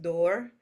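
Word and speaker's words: Duir: go over Oak and Oak is pronounced door and it does sounds close to a door so it's the door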